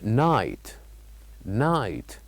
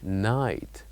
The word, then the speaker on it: night: is the uh word night night where we say that here we write G and H but we don't say them they are silent the word will be night night and the third